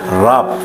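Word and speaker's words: רַב: Rab, pelafalannya Rab.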